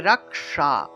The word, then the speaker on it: রাক্ষস: যাবে ঠিক আছে তাহলে রাক্ষসা রাক্ষসা এই মূর্ধন্যসটার উচ্চারণ মূলত জিউভা উল্টিয়ে করতে হয় অর্থাৎ জিউভা উল্টিয়ে স উচ্চারণ করতে হয় তাহলে রাক্ষা রাক্ষসা এইভাবে